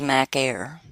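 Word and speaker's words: μάχαιρα: The word for sword is Mac Air. It's pronounced just like your Mac Air computer.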